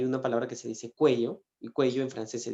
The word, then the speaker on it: cuello: tenía algo en el cuello y lo malo es que la palabra cuello si tú la pronuncia es mal suena culo entonces yo le dije